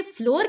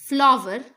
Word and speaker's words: flour: क्या आप इसे फ्लोर कहते हैं? This is also wrong. The correct pronunciation is फ्लावर, फ्लावर, नॉट फ्लोर, फ्लावर।